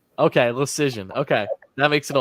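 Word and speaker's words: Leschyshyn: Just pronounce it as Decision with an L. Okay, Decision.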